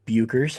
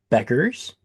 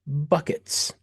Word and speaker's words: Bueckers: So, for the record, I do know it is not Bueckers, and I apologize for that. The two appropriate ways to pronounce her name, ladies and gentlemen, are Beckers and Buckets.